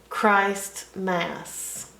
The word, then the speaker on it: Christmas: ask ER is um this is two words actually Christ and Mass Christ Mass Christmas ER is um Mass